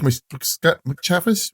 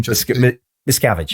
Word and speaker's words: Miscavige: Well, that's what David McChavis, how'd you say his name? Miscavige.